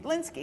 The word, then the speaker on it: Lynskey: Lynskey. Lynskey. It sounds just the way it looks, right?